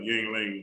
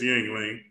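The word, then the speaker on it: Yuengling: I got a little ying lang beer. I don't think it's called ying. What is What's the real How you pronounce it? Yang. Yang lang. Yang lang. Like lang. I don't know. It's yingling.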